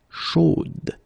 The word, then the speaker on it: chaude: the end, and then the pronunciation will change a little bit, chaude. So here you pronounce the final d, whereas in the masculine form you don't pronounce it.